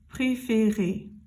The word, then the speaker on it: préférer: Again, in the infinitive, it's an accent aigu, and it's pronounced préférer. Do you hear how it's the same sound every time?